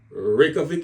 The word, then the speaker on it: Reykjavik: Reykjavik, if I'm pronouncing it correctly, is the capital and main city there.